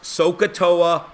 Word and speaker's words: SOHCAHTOA: word okay every math teacher uses this it pronounced sohcahtoa we all say it every math tutor says